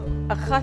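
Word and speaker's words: אחת: This has a T sound at the end, but achat sha'alti, just one request.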